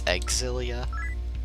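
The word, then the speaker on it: Xillia: It's Exilia. Yes, that's how I've heard people pronounce it.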